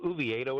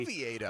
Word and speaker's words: Oviedo: I've not heard that pronunciation yet. You went ooh and not oh. Is that something I need to adjust? Do we need to adjust our pronunciation guides? Was that a slip up by you, or is that the official Pirates pronunciation of the name?